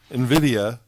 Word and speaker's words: Nvidia: Nvidia, a stock having an approximate value of $50,000 to the village of Rybrook for the AP community senior center and programs.